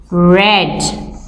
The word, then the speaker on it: read: base verb is reach the past form is red and the homophone is also red so now let's move